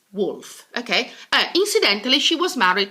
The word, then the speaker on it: Woolf: Virginia Woolf Virginia Woolf I know there are two O's but actually it's wolf okay incidentally she was